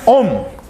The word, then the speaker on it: ohm: a letra Ômega maiúscula a gente pronuncia om o nome dessa unidade